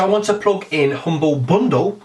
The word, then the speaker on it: Humble Bundle: want to plug in Humble Bundle see I said it right this week everyone points out last week I called it Humble Bumble so yes Humble Bundle